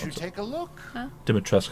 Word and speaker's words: Dimitrescu: Dimitrescu, that's how you pronounce it, not Dimitrescu.